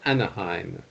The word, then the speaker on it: Anaheim: Yes, you pronounce this word Anaheim.